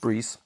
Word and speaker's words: Brice: French and that's why my name is pronounced Bree cuz that's the French pronunciation but I I found